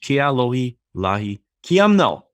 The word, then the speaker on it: Ke'alohilani Quiamno: Very warm welcome to Sage Ke'alohilani Quiamno, and I probably butchered the name. I'm going to say it again. Welcome to Sage Ke'alohilani Quiamno.